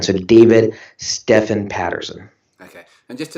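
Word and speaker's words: Stephen: Phe n so David Stefan Patterson okay and just to let you know David in the UK we would pronounce that Steven not Stefan but but you know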